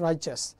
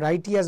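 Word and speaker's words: righteous: রাইচাস, এই বাক্যটার এই শব্দটার উচ্চারণ হচ্ছে রাইচাস। তাহলে এটার ক্ষেত্রে কোনটা হবে? তোমরা উচ্চারণ রাইটিয়াস বলিও না, এটা কারেক্ট উচ্চারণ আমেরিকান স্টাইল হচ্ছে রাইচাস, বা এতে রাইচাসই বলা হয়।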